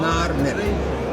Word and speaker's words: نعرمر: السمكه والازمين بتتنطق باللغه المصريه القديمه نعر مر، السمكه والازمين.